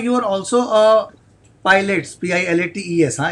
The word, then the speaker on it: Pilates: Shilpa, you are also a pilot, Pilates, huh? It's not the plain wala pilot. It's a different, but the pronunciation is almost the same. No, it's a different pronunciation. Pronunciation is Pilates.